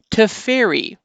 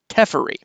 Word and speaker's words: Teferi: before I even get past his first name to ferry is how that seems to be pronounced and I got to admit when I